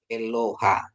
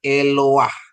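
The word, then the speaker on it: אלוה: sama patah aturannya Ha kan seharusnya ini bacanya adalah eloh Ha Begitu ya eloha tapi bukan Kenapa karena ada stolenpata ini stolen patanya jadi bacanya eloah artinya Allah Ya eloah itu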